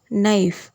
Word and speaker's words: knife: கே வந்து எண்ணுக்கு முன்னாடி வந்திருக்கு. ஸோ இதை நம்ம எப்படி சொல்லலாம்? நைஃப். நைஃப் அப்படி சொல்ல மாட்டோம், நைஃப். கே வந்து சைலண்டில் போயிடும்.